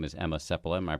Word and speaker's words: Emma Seppala: let her speak for herself her name is Emma sepula am I pronouncing that right that's correct full title is